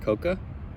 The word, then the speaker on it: cocoa: why is that cocoa it's got a a on the end I always think words are weird that have extra letters on it that you don't pronounce cocoa is it Coco mix I don't think anybody says Coco cocoa anyway Swiss Mix Swiss